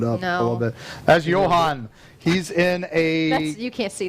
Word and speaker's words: Johann: Johann, you said it right.